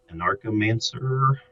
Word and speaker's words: Anarchomancer: I think it's Anarchomancer, maybe. Yeah, like Anarchist, but Anarchomancer.